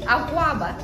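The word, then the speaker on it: Akwaaba: Akwaba. Am I saying it right? Yeah, that's right.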